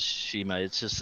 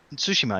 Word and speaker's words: Tsushima: But I mean, going back to Ghost of Tsushima, it just looks Tsushima.